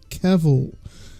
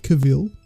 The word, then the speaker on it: Cavill: time in this episode I just have to correct snugs on his pronunciation of Henry Cavill it's not Cavill don't let it happen